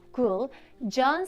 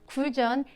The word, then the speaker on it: Guljeon: but it's a group cool john sounds like john the the guy's name so cool john like you can say cool john but don't care about